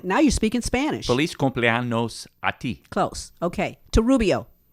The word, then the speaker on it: cumpleaños: Feliz cumpleaños a ti. Feliz cumpleaños. Cumpleaños. No. Cumpleaños. Cumpleaños. That's right. Feliz cumpleaños. Feliz cumpleaños. A ti. A ti. That's right. You got it. Now you're speaking Spanish. Feliz cumpleaños a ti.